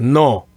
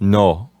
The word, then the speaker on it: no: You have that kind of O sound at the end of the word. But in Spanish, it's more dry and short. It's just no.